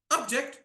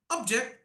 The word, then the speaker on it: object: what is the difference same spelling did you get the clarity object that was a noun object second one object don't have so many objections I'm putting more pressure on the second syllable did you get clarity